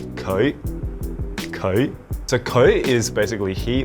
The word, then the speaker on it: 佢: So I kind of imagine it as like saying koi, like the fish koi, and then putting a slight E into it. So it's like koi.